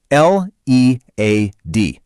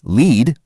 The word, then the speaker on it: lead: L-E-A-D. It can be lead, like when you guide a team, or it can be lead, like the heavy metal.